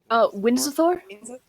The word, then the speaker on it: Windsor: yeah, Which, by the way, how do you pronounce that name? Windsor? Okay, it is exactly how it Windsor.